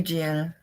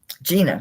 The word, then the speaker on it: Gina: Goes to you, Giana. Gina, that's right. You told me how to say it.